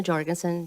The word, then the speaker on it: Jorgenson: um director go Goen Gandhi I'm worried about mispronouncing your name my name is Jorgenson j o r g n s n um